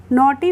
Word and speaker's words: naughty: से बता देती हूँ, किसी भी वर्ड में अगर GH एक साथ आते हैं तो उसमें हम GH का प्रोनाउंसिएशन यानी कि उच्चारण नहीं करते हैं, वो GH साइलेंट यानी कि चुप रहती है, ठीक है।